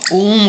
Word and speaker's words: ओम: ओम। तो आपने ओम का उच्चारण लंबा करना है और ध्यान आगे चक्र पे ही आपने रखना है।